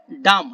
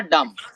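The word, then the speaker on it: dumb: বোকা অনেকজন বোবা দেখেন এটা হলো বুবা ডাম হ্যাঁ ডি ইউ এম বি উচ্চারণ করা লাগবে না ডাম ওকে সুম্মুন বুকমুন উমুন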